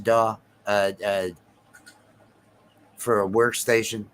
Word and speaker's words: DAW: that a is that a uh is it's pronounced daw uh uh for a workstation did you uh